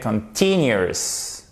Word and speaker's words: continuous: Ok, continuous. Vous avez votre accent tonique sur le T.